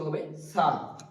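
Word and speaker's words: ح: কন্ঠনালিটির মাঝখানে উচ্চারিত হবে হা। হা একটা বাতাস বের হবে।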